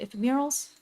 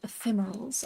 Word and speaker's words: ephemerals: ensure safe travels, they take off all the ephemeurals. Uh, ephemeral. Ephemerals, I'm pretty sure is how you're supposed to pronounce it. But in my head, I've been calling ephemerals for so long, I don't think I can call them anything else now.